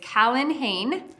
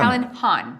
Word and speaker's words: Callan Han: The first one is Callan Hain. The next one Sorry, is... I think I said that wrong. Han. Han. Callan Han.